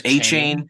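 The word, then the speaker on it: Achane: and Devon and actually I've heard his name pronounced a couple couple different ways recently there's achain yeah right there was when he came out of the draft it was all a chain is all I heard and then now I'm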